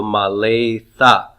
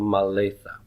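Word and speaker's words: מָלֵאתָ: So maletha. So since the aleph is not being pronounced, the sere precedes the begad kafet letter tav, and so the dagesh lene goes away. All right? So maletha.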